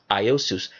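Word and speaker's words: Ἰησοῦς: have to understand that jesus is from the greek word uh is it is if i'm trying to pronounce it right iosus there was no such thing as a letter j in the greek alphabet neither was there a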